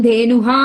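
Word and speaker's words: ധേനുഃ: ധേനു എന്ന് പറയുമ്പോഴും ധേനുഹ എന്ന് വായിക്കരുത്, ധേനുഹു.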